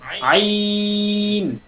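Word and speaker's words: عين: যে আছে আকার থেকে আমাদের টানটা শুরু হবে আইন আ আইন কিছুটা হইতো আলহামদুলিল্লাহ আবার বলেন আইন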